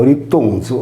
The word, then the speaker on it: Erittonio: Ella sposò secondo Apollodoro Foroneo, il primo uomo di stirpe pellagica che aveva scoperto il fuoco, da cui generò Erittonio, pronunciato Erittonzo, ossia colui che è salito in piedi.